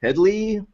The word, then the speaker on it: Headey: It's either Heady or Heady, because in Britain they tend to pronounce the last name Head as Heed, so it could be Heedy.